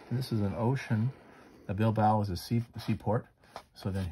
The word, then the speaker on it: Bilbao: And below that, what we'll do is we'll put our sketch of the museum at Bilbao. And it's pronounced Bilbao, Spain.